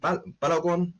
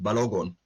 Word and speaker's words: Balogun: do i really think badagon oh sorry pronounced balogon do i think balogun